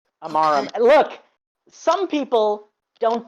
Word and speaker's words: Amaram: Amaram. Amaram. Okay. Look, some people don't deserve their names to be pronounced properly.